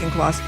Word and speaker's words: Auchincloss: How do you say Auchincloss? Exactly like that. Auchincloss.